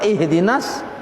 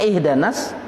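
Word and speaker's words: اهدنا: Ihdi dibacanya ihda. Nah, ini menyalahi tajwid. Ihdanas, nah, salah ada. Kurang ihdinas, nya ihdanas.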